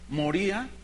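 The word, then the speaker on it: μωρία: de una palabra griega moría así se escribe se pronuncia igual y significa absurdo significa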